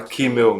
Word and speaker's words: Kümmel: Que a partir de agora a gente vai falar Kimmel mesmo para abrasileirar um pouco essa pronúncia, né?